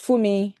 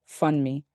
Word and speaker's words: Funmi: In a secondary school in Bromley, my Yoruba name pronounced Fumi is bent into Funmi, and so are the house rules.